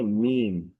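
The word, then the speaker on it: ميم: এই হরফটির নাম হচ্ছে মিম মিম মিম যদি এই এই হরফের উচ্চারণ যদি আমরা একটু খেয়াল করি তাহলে দেখব যে দুই ঠোটের শুকনা জায়গা থেকে উচ্চারিত হয়।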